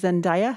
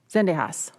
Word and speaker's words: Zendejas: the first person to go will be ms zendaya am i pronouncing it correctly zendejas okay thank you may it please the court